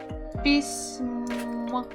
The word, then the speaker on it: письмо: Это моё п и с мягкий знак пись м письмо. And the final one is о. Письмо. Письмо. The stress is on the final syllable.